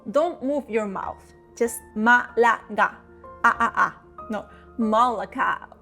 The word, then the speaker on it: Málaga: Just Malaga. No, Malaga. The L is quick, not Malaga, but Malaga. Quick. The G is soft, not ka or ka, but ga. Repeat. Ga. Malaga.